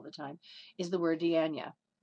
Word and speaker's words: dianoia: on it all the time, is the word dianoia. Spelled D-I-A-N-O-I-A, it looks like dianoia, but it's pronounced dianoia, which is used in Ephesians chapter